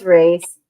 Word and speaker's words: Reese: Is it Rise? Am I saying it right, Tess? No, it's Reese.